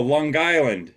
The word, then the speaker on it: Long Island: right folks you gotta you gotta have that g long oh Long Island Long Island Long Island